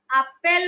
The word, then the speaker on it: appellent: But in French, we pronounce it appel.